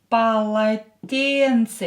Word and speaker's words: полотенце: Полотенце. Here E is stressed. So this O and this O will be pronounced as A.